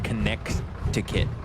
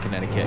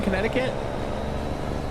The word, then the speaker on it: Connecticut: When I was a kid, I pronounced it Connect-to-kit. When I was like a toddler, obviously. Nice. How's the weather out in Connecticut?